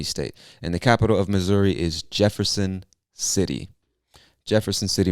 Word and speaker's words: Missouri: if you're reading this you see the two s's and you might think it's miss suri but we pronounce it missouri with like a z sound missouri and missouri is